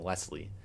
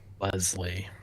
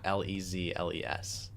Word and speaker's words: Leslie: Correcting our pronunciation here to Leslie. Leslie. Not Lezles.